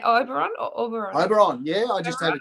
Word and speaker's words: Oberon: Oberon.